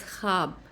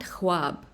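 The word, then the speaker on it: خواب: So this word instead of khwahish is pronounced khaahish. Similarly, it's khab, not khwab, and tankha, not tankhwa.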